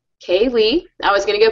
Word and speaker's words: K. Lee: 3 times a day, my name's Kaylee. It's spelled K.Lee.